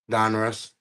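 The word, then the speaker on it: Donruss: Is that the new Dun Russ? Yes. So, how do you say it? Do you say Dun Russ or Dun Ross? Don Russ. Don Russ.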